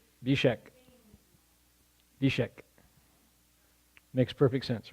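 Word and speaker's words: Zbyszek: You pronounce it Bishek.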